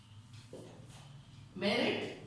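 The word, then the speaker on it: meruit: Merit please note the spelling. M E R U I T but we pronounce it as merit.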